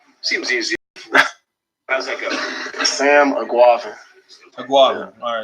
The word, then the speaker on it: Sam Eguavoen: Sam Eguavoen. Yeah. Seems easy enough. Sam Eguavoen.